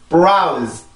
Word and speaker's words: browse: 자, 이어서 발음을 해볼게요. browse, browse, browse.